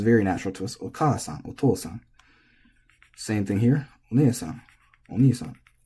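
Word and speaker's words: お父さん: These are very intuitive for English speakers because the accent, the pitch, is lining up with the long syllable. So it sounds very natural to us. Okasan, otosan.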